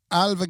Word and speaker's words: Ailbhe: There's nothing like the name Alva when you look at it. Beautiful name, Alva. AILBHE. Yeah, gorgeous How are name. you supposed to pronounce that if you didn't know it was Alva? Elbaha.